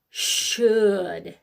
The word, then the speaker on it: should: W the seat and you're going to do the that SH sound and it's should all right so the SH is okay but just like the others it goes a little crazy at the end so those three tricky words rhymes so that's gonna help